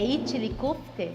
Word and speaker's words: İçli köfte: É que a gente precisa pronunciar algumas coisas em turco. O quibe, por exemplo, é içli köfte.